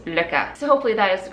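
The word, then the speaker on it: Lykke: Anyway, the correct way to pronounce them, I believe, is LOPPA.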